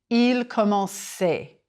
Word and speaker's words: commençait: The CCD is there to keep the sound. Same with il commençait.